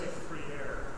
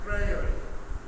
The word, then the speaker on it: Freire: I always want to say free air, and I know it's not right. And I asked somebody the other day, how do you pronounce that correctly?